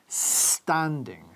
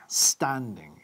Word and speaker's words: standing: Fíjate en la pronunciación de standing. No hay ningún rastro de una E antes de la S. No decimos standing, por ejemplo. Decimos standing, standing.